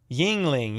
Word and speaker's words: Yingling: say it no troll Yingling it rhymes with ring Ying Ling everyone else is saying